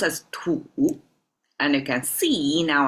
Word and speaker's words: 土: This one is about a soil pronounced as to and you can see now I add traditional to exactly the same because that's the core concept cannot be further simplified.